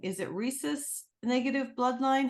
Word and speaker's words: rhesus: bloodline you and I don't know if I'm pronouncing is it rhesus negative bloodline how do you pronounce that is